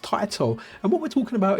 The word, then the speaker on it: Taito: I always call it Taito. It's because I'm from the UK and sometimes we call potato Taito, but apparently it's pronounced Taito.